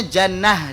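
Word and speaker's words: جنة: Yang satu lagi pakai tak marbutah, tak bulat, bacanya jannah dengan huruf ha.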